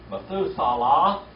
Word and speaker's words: Methuselah: Methuselah, that's how you say it.